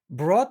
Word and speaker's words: brought: Mother Island brought life into the world using the magic of her heart. Brought, GH в серединке никогда не читается.